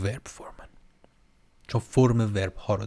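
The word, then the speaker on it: Verbformen: دیگه و فورم پون این رو میتونید ورب بگید بهتره دیگه اینم جز هموناست که میبینید ف گفتم تلفظ میشه ولی و میگن فرب هم یه سری جاها من دیدم که آلمانیا میگن فرب فورمن هم دیدم که میگن ولی من بهش میگم ورب فورمن چون فرم ورب ها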